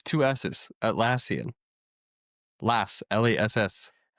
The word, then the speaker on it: Atlassian: Atllesian. How do you say it? Atlassian.